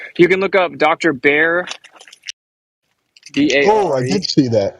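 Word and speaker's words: Barre: the water like Dr bear is in like the animal well it's spelled b-a-r-r-e but it's pronounced bear it's the permaculture is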